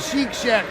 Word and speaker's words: Chic Shack: don't forget about the Chic Shack popup Boutique based out of Fairview a special in toddler and women's clothing find them on Facebook Chic Shad spelled like chick cic cours for the